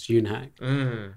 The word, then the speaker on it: Yonhak: It's just literally Yonhak. No one could say it. So it's actually pronounced Yonhak. Because you were saved on my phone for a really long time as Yonhak.